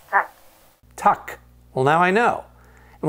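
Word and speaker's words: tack: thank you in Swedish in Swedish that's tuck tuck well now I know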